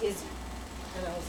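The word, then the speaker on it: Izze: The name of the type of blackberry drink was called Blackberry Izzy, spelled I-Z-Z-E. Oh, that's a weird way to but spell that. pronounced Izzy.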